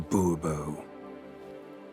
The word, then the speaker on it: Bobo: as Monsieur de Bobo fine Monsieur de boobo the emphasis falls on the last syllable see now I'd rather